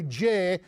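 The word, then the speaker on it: Jeh: is what DHS secretary Jay rhymes with may Johnson said earlier this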